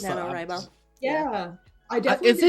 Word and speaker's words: NaNoWriMo: NaNoWriMo. Yeah. I definitely is did it that. not NaNoWriMo? Rye, because Right. writing.